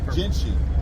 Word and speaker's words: Gentian: Gentian.